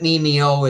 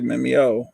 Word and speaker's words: Yvette Mimieux: That's how you say her name, by the way. Did you know that? I just always say Mimeo. I used to say Mimieux. I always say Mimieux.